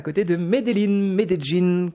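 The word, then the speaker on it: Medellín: à côté de Meline medin qu'on prononce ici pas minein je vous dis à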